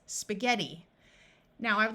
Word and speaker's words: spaghetti: there are also a few words where GH has a hard G sound of G in this word the I is going to take on a long e sound so this word is spaghetti now I would like